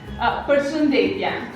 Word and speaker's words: Përshëndetje: Përshëndetje.